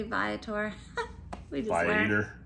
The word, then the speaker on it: Viator: Okay, make sure you pronounce the company correctly, Viator.